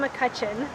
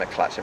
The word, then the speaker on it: McCutcheon: I'm with men's third place finisher Sam McCutcheon. Did I say your name right? Yeah. Most people chuck an L in there, and McCutcheon, but no, you nailed it. McCutcheon.